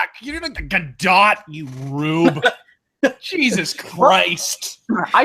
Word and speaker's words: Gadot: I am morally opposed to how she pronounces her last name. It looks like yeah. It is good dough, god damn it.